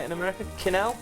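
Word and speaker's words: quenelle: Canel. Canels. Canels. Canals.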